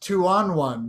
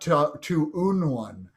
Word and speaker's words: Two On One: It's pronounced two on one, not to un one.